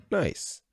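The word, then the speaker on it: gneiss: changes into quartzite and granite changes into nice pronounced nice note an important mineral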